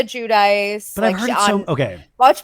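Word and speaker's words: Giudice: Gia said Judice. Judice. That's okay. So, it's Gia Judice.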